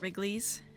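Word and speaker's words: Wrigley's: This this Wrigleys. Yeah, Wrigleys. So, well, Wrigleys is the real world. Wrigley is the how that company name is pronounced. There's an extra letter in there.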